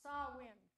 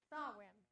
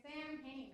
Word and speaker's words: Samhain: dark half of the year, and that's called Samhain. Samhain. S-A-W-W-I-N. But that's not the way it's spelled. If you said it the way it was spelled, you would say Samhain or something to that effect. S-A-M-H-A-I-N.